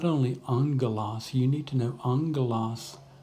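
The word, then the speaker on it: ἄγγελος: And when a gamma comes together, it makes an NG sound. Angelos, angelos. Okay? Note again our breathing mark and our accent mark. So that means that the smooth breathing mark, this doesn't change the pronunciation in any way. The accent mark tells us that this syllable, the first syllable, is the one that will receive the stress when we pronounce it, angelos.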